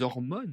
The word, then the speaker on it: hormones: Eh bien, ce sont des hormones, ces hormones, attention, je ne prononce pas le H, et il y a la liaison.